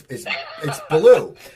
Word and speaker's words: Ballew: And my guest is Chris Ballew. How you doing, Chris? I'm good. Thanks for having me, Steve. No problem. Now, I see I called you Ballew, and we just said this. It's Ballew.